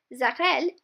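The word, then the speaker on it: Saukerl: Zakrel, pronounced Zakrel, is for a male.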